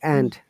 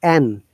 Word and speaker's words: and: often you'll find if the word and is pronounced singular or at the beginning it should be end or all other cases it should be n not end okay it sounds like